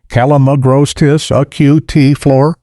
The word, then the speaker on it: Calamagrostis acutiflora: Karl Foerster feather reed grass, Calamagrostis acutiflora, pronounced Calamagrostis acutiflora, Karl Foerster, the single most popular ornamental grass